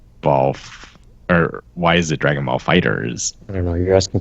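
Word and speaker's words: Dragon Ball FighterZ: ones just be called dragon's salt no it's Dragon Ball fighters you sure yeah I mean it's spelled with a Z at the end but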